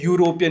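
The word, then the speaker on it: European: तो देखो यहाँ पे जो ई है वो तो आपके पास वॉवल है, बट जो साउंड आ रही है यूरोपियन मतलब वाई यू, जो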